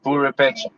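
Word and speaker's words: Purépecha: Yeah, I can, it's yeah, called purepecha. Purepecha. Purepecha, Purepecha. That's it. If I hear someone pronounce it, then I can get the sound.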